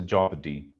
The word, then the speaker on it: jeopardy: It's a jeopardy. Okay, the O becomes silent in it, so it somehow sounds like Jeopardy.